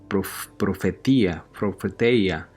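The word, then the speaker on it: προφητεία: en el Antiguo Testamento en griego dice que se pronuncia profeteia, y significa profecía y profecías, ¿no?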